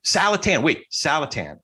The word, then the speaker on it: Saletan: Saletan, like Callahan. Saletan.